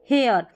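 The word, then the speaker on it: hair: एच के बाद में जैसे ए आई आर ए आई आर ए आई आर एयर करके पढ़ेंगे। तो ये बन गया हियर। क्योंकि एच को हमने पढ़ा ह और यह एयर एयर यहां पर हेयर जैसे अ यह जो य रखा है इसकी जगह अता है तो कोई परेशानी नहीं है। उच्चारण सेम ही अ का साउंड या य मिलताजुलता आएगा।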